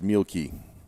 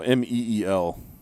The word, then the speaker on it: Mielke: And I'm getting word from Al that it's Mielke. Mielke. Okay, I was close. Or Mel. I don't know. Meel is the phonetic pronunciation.